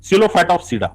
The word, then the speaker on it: Psilophytopsida: Okay, now see, the first one is called as the Psilophytopsida. Okay, here P is the silent, and it is called as the Psilophytopsida.